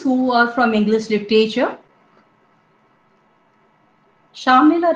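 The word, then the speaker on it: Shamela: are from english literature shamila rhymes with pamela so it was a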